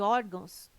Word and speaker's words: órgãos: Caráter, intransferível e órgãos têm sua sílaba tônica na penúltima sílaba.